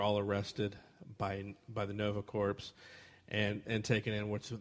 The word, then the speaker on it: Nova Corps: then they're taken to is it how you pronounce that word corpse corpse core this core Nova Corps this is Nova Corps yeah those corpse if you lived your entire life that you met cor p is corpse may be continued wait